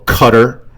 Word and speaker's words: Qatar: base in Qatar or Qatar, as it's most precisely pronounced, it took place, right?